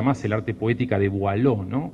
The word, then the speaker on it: Boileau: nadie lee ya más el arte poética de Boileau, ¿no? Boileau se escribe B larga O-I-L-E-A-U. Boileau.